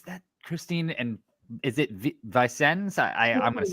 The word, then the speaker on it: Vicens: And is it Vicens? I'm going to say it wrong. It's Vicens.